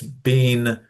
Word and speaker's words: been: It's bean. British pronunciation bean.